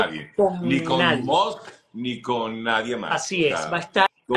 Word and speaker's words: Musk: Me encantó, por ejemplo, cuando Maracorina salió a hablarle a Elon Musk para que Maduro aprenda a pronunciar, se dice Musk, no Monsk, como trata de pronunciar este individuo, ¿no?